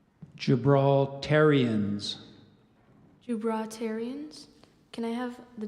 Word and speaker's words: Gibraltarians: Iberian geographical name plus an English combining form gibraltarians jubilitarians are there any alternate pronunciations there's one so I gave you the